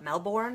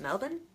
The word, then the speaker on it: Melbourne: know anybody from Australia call it Melbourne and it's actually pronounced Melvin a mate my name